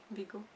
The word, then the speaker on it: Viggo: I'm trying to correct my pronunciation there. Viggo.